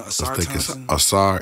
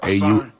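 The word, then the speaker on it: Ausar: Asar. Asar.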